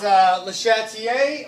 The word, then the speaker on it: Le Chatelier: I think you're just saying it wrong. It's Le Chatelier, or some people say Le Chatelier, or Le Chatelier. That's how they say it.